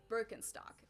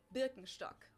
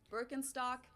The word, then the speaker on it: Birkenstock: the world nowadays and it's natural that people pronounce it with their native accent so English speakers usually say Birkenstock in German we say Birkenstock Birkenstock Birkenstock which literally translates to Birch stick the